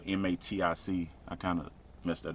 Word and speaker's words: MATIC: they used to be called polygon they're called medic now and one time i told people to